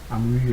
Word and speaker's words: Amouy: Amouy est la façon française de prononcer son nom de famille.